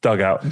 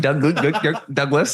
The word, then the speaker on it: Douglas: Dugout. Douglas.